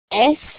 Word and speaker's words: est: You may be thinking to yourself, that looks a whole lot like the word he is, il est, but it is pronounced differently because it is a direction.